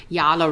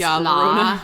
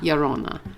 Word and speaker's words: La Llorona: I actually dug into a lot of the pronunciation because I wanted to say it right and I always tend to say Yona I don't know why I do that but it's Laona Laona I can't roll my RS but I'll say